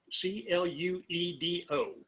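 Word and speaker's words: Cluedo: and they had a little strange name cledo c-l-u-e-d-o pluto or clue do however you would pronounce it but it got americanized a clue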